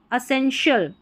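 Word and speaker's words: essential: Pronounce कर सकते हैं, क्योंकि TI जो आ रहा है ना, इसमें इसका उच्चारण श हो रहा है। असेंशियल, असेंशियल, तो ई का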